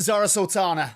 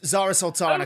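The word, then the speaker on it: Zarah Sultana: Zora Sultana. Zara Sultana.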